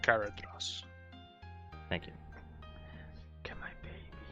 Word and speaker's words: Galadriel: Seth, it's pronounced Galadriel.